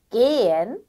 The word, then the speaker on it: gehen: 그리고 요 발음이 기엔이라고 읽혔던 게 게헨이라고 하지 않는다는 거죠. 근데 어떤 독일인은 또 게헨이라고 네. 읽는 사람도 있긴 있는데 이것도 표준어로 따지자면 기엔, 묵음이 되는 것이 맞습니다.